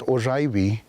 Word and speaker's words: Oraibi: The village that I come from is traditionally pronounced Oraibi, but now commonly known as Old Oraibi, to